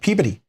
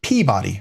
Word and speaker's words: Peabody: right it's like uh up in Massachusetts there's uh Peabody everybody looks at it and they want to pronounce it Peabody right but it's Peabody up there even though everybody else would pronounced the Peabody and there's a place